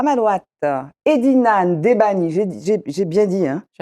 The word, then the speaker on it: Ndebani: à ma droite Edina Ndebani, j'ai bien dit, hein? Tu as bien prononcé. Ndebani, je n'ai pas dit Ndebani, ni Debani, Ndebani.